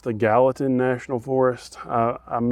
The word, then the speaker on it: Gallatin: That is in, I believe it's pronounced the Gallatin National Forest.